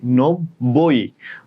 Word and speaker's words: নব্বই: ব যুক্ত বর্ণ, ব হসন্ত, ব ভেঙে লিখছি, নব্বই। এই বয়ের সাথে ওকার উচ্চারণ হয়, আর এটাতে অ উচ্চারণ হচ্ছে না, নব অ উচ্চারণ হচ্ছে না, ওই জন্য এটাতে হসন্ত।